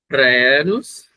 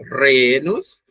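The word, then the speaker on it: Rhenus: Na verdade, vocês podem pronunciar, quando nós temos um RH, nós temos um R e uma aspiração. Então vocês poderiam pronunciar renos, que é a forma adequada, mas vocês também podem pronunciar sem a aspiração. E geralmente a aspiração causa um certo grau de dificuldade na pronúncia em português. Então você pode dizer renos.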